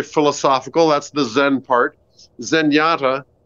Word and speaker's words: Zenyatta: that's the Zen part zenyata uh rhymes with Kenyata uh who is a